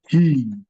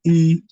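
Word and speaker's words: hii: You say he. He. He. It is he. He. You don't say E. You must pronounce the H in it.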